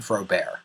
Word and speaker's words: Frobert: front of my name now you think it would be pronounced frobert but in two independent events it became frob bear the first thing that